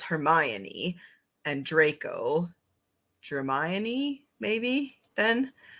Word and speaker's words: Hermione: then from harry potter because i know it's hermione and draco germaine maybe then all right good